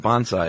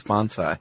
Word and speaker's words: bonsai: Yes, which you I don't know if I'm saying it wrong, but right before we press record you said, "It's not bonsai, it's bonzai."